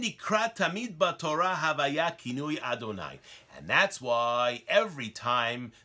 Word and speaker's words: Adonai: We pronounce it as Adonai.